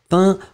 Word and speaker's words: peint: écrit magnifiquement effectivement effectivement le participe passé ses pains p e ent faites attention joseph ouais vous